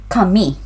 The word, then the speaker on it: kami: So pronunciation, kami. It's on the second syllable, kami.